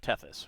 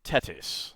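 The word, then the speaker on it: Tethys: This month we have Teus who it should be Tetis. uh the the th in ancient uh um Greek as well as uh ph and ch or kh.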